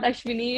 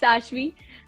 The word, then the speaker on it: Ashvi: It's not Ashvi, it's not Ashwini, it's Ashvi. So most of the people pronounce my name very मतलब in a very cringy way.